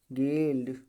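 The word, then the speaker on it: guild: किसी भी वर्ड में यू के बाद कोई वावेल्स अक्षर आया हो तो यू हमेशा क्या होता है? साइलेंट होता है। तो हमने बताया यू के बाद वावेल आया, गाइड, गिटार, गिल्ड, ठीक है, बिस्कट।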